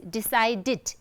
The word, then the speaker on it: decided: we add ed, and the way we have to pronounce is decided, it, as if it's id, decided, decided. So, decide is a two-syllabic word, so it becomes three-syllabic word, right?